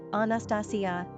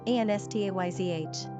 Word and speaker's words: Anastasia: Pronunciation, Anastasia, Anastayzh.